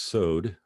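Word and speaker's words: סוד: So this word, by the way, is pronounced sod, like rhymes with road.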